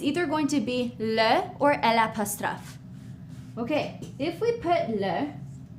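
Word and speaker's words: eau: Same thing for O. Okay. Water. O. Here's how we spell it. E A U.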